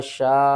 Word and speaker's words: شاق: اس کے ہجے پہلے کر لیتے ہیں، شین الف قاف مد زبر شاق، قاف کو آپ نے موٹا کر کے بھی پڑھنا ہے، قاف کے اوپر قلقلہ بھی کرنا ہے، ٹھیک ہے نا؟